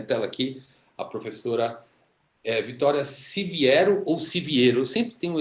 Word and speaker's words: Siviero: aqui a professora Vitória Siviero ou Siviero. Eu sempre tenho esse problema com o Se seu nome. vier, a pronúncia certa seria Siviero mesmo, mas Siviero também vale.